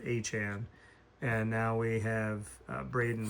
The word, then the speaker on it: Etienne: We got Travis Etienne as he said his name is pronounced like like the Devon Achane. So that Etienne and Achane are both Achane.